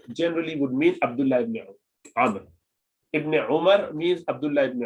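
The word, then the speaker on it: عمرو: When you find a wow like this, at the end of Umar, it's pronounced Amr, okay? It is Amr, okay? Amr, not Umar.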